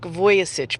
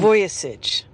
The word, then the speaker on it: Vujicic: Nick Vujicic, by the way, is the way his name is pronounced. I've been following How do you say that last name again? Vujicic. Vujicic.